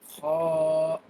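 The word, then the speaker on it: خ: The next alphabet is Kha. Kha. Kha will be pronounced by the upper end of your throat.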